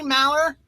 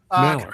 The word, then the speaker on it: Maler: Is it Maler? Do you say it Maler? Good morning, Dennis. How you doing? Good morning. Yeah, I say Maler. Maler. I think that's the German way to pronounce it, but I don't get